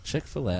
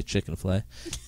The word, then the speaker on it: Chick-fil-A: That's why Chick-fil-A, which I said it right. Yeah. Chick-fil-A, I used to say Chicken-fil-A.